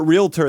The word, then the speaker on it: realtor: of years ago that there's not an extra syllable in there there's no extra real that's that's fake that's fake news but realtor that's correct but I say rural